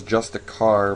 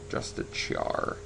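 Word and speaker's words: Justiciar: I always want to call this Just a Car, but it's spelled like Char. Just a Char.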